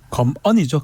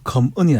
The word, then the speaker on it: 검언: 검언이죠. 검은이 아니고. 근데 검언. 죄송합니다. 예. 검언은 당신이 발음을 잘 하셔야 돼요.